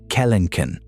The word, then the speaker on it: Kelenken: The answer is Phorusrhacos, and its bigger, meaner cousin, Kelenken, pronounced Kel en Ken, which stood about 10 ft tall and weighed over 1,000 lbs.